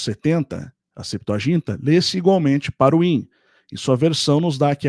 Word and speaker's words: Parvaim: Então, Parvine é pronúncia alterada de Parwin, conforme eu disse. Por isso que o antigo alfabeto latino confundia o V e o U, que o Yod, que é a vogal I, muitas vezes se lê com a pronúncia de Ai em hebraico. Então fica Parwine, né?